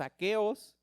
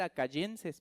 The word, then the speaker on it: aqueos: Fíjate, dado que los macedonios y los aqueos, o sea, los de Acaya, porque yo le iba a poner acayenses, pero me puse a buscar y no, no se dice acayenses, se dice aqueos.